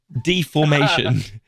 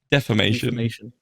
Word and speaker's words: defamation: Deformation. Deformation. Defamation.